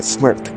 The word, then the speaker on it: smrt: Por ejemplo, en checo la palabra muerte se dice smrt, sin vocales en lo absoluto.